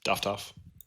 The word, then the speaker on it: Doftohff: And I look at Doftohff, is that how you pronounce it? Yep, Doftohff.